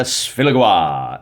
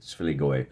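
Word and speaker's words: Sfiligoi: A Song of Blades and Heroes by Andrea Sfiligoa. Actually, I think it's pronounced Sfiligoe.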